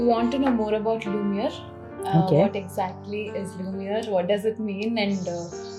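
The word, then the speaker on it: Lumière: It's Lumiere. Yeah, Lumiere is a French word for light.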